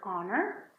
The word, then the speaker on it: honor: that, like the word honor, like the word hour, or honest. They all start with H, but you don't pronounce it.